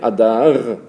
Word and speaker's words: Adar: Mais pour prononcer Adar, il faut forcément mettre en dessous de la consonne Aleph un symbole qui va la rendre A. En dessous de la lettre Dalet, pour la prononcer Da, il faut mettre quelque chose en dessous de la lettre Dalet. Donc ça va être Da, Ada, et puis le R, Adar.